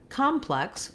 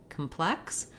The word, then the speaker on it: complex: So if I say plex, complex, I'm more likely to be able to focus on that stressed syllable and keep that first syllable short and reduced. If I start at the beginning, I might accidentally say calm in that word complex instead of reducing that vowel sound.